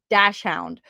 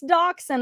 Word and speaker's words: dachshund: or do call it dash hound. I used to pronounce this dash hound, and everybody's like, no, it's dachshund.